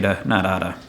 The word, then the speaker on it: de nada: love peanuts also Mike it's pronounced a de nada not a big deal